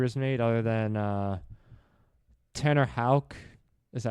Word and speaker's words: Houck: I don't think any particular history was made other than Tanner Houck. Is that how you pronounce it?